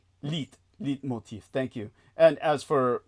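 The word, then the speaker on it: leitmotif: That was his le motif. Am I pronouncing that correctly? His life theme. Yes. Leap motif. Yeah. Leit lit motif.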